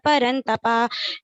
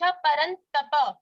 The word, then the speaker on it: परन्तप: संजय उवाच एवमुक्त्वा ऋषिकेशं गुडाकेशः परन्तपा नायोत्सयति गोविन्दमुक्त्वा तूष्णीं बभूववा तमुवाच ऋषिकेश कोई ट्रेन नहीं पकड़नी। एवं मुक्ता ऋषिकेशम गुडाकेश परंतप। तपा नहीं है, ये उच्चारण की त्रुटियां हैं, इस पे ध्यान देना।